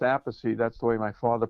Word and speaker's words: Appice: it looks like a piece but it's always pronounced apathy that's the way my father pronounced it call mine used to say apathy and when he started playing Rod Stewart he pronounced it a piece so he changed it to a piece and